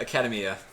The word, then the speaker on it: Academia: I keep telling myself, how you pronounce academy. Mm-hmm. Just add the A.